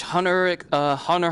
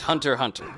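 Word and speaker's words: Hunter × Hunter: it's hunter but it's hunter hunter okay I had a feeling there was Hunter hunter and you just don't pronounce the X is just there I also really recommend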